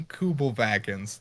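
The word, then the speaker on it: Kübelwagen: this is not something you were doing so good with the german pronunciation until you got to vagan that's i i don't care you know how it's like wagner it's not wagner right you know it's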